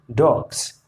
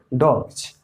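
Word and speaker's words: dogs: तो देखिए डॉग और इसमें एस लगा है, जी आया है, तो जी जब भी आए तो एस का उच्चारण क्या होगा, ज। तो यहाँ हम अब इसको पढ़ेंगे डॉग्स, क्या पढ़ेंगे, डॉग्स।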